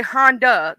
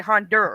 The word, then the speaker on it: Honda: They don't say Honda, they say Hondur. Honda? They put an R in it for some reason.